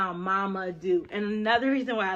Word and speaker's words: Mamadou: so like for example if your name is mama do i even though it's not spelled the way it sounds i like to write